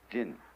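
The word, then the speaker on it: 仁: In Chinese, there's the word ren. I don't know how it's pronounced in Japanese. I'll write it backwards. How do you pronounce that in Japanese? Jin.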